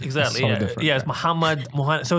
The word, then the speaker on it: Mohanad: The thing is, like in Arabic, like when you pronounce Mohanad, it's complete. Like it's Mohanad. Exactly. Mohanad.